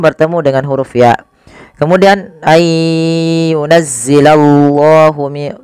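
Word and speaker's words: أَنْ يُنَزِّلَ اللَّهُ: Kemudian ayyunazzilallahu, tebalkan lafal Allah karena di situ lamnya lam tafkhim.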